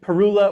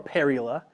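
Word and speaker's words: Parula: So there are two ways to pronounce it. Perula or perila.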